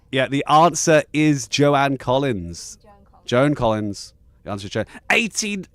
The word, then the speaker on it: Joan Collins: Joan Collins, by the way, that's how you pronounce it.